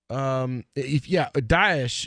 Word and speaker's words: Daesh: Daesh, if you go to any of the Middle Eastern... Oh, that's how to pronounce it, okay.